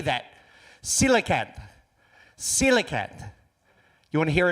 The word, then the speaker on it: coelacanth: 1938, British Museum was exhibitioning a display of a fish called a coelacanth. Thank you. Did you see that word? How do you say that? Coelacanth.